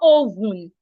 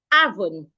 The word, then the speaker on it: oven: It's not oven, it's avon.